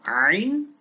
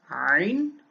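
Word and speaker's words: عين: হ্যাঁ, এটা হলো আইন হা, আইন হা। এবার বলুন তো এটা কোথেকে উচ্চারণ হয়, একটু চিন্তা করুন। আইন হা, আইন হা, জি। এটা কণ্ঠনালীর মধ্যভাগ থেকে উচ্চারণ হয়, কণ্ঠনালীর মধ্যভাগ থেকে আইন হা, আইন।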